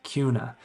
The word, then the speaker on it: Kuna: the amenities in the housing to see if Kuna Idaho is one of the best places to